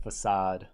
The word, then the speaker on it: facade: how you would think facade would be spelled no well yeah that's English a c pronounced like a s and yeah it's all